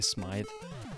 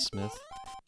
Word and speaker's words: Smythe: It sounds so much better to say Smythe and instead of Smith.